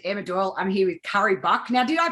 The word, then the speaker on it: Cari Buck: my name is emma doyle i'm here with curry buck now did i pronounce that right yes you did ah look